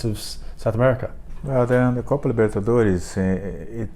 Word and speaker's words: Copa Libertadores: Is that correct this is pronunciation? Good. Exactly. Oh, you are doing well. Copa Libertadores.